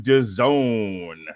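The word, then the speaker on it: DAZN: Smith Jr live on Doone which rhymes with calone as we all know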